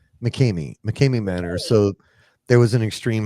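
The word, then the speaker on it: McKamey Manor: Is it McCrae Manor? Mckame Mckame Manor.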